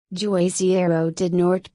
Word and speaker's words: Juazeiro do Norte: joisey arrow did North Portuguese pronunciation a asa dragoon hi is a city